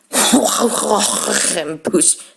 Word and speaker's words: croquembouche: Croquembouche.